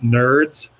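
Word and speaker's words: NRDZ: national radio dynamic zone easy acronym to remember it's nerds when you pronounce it but i was involved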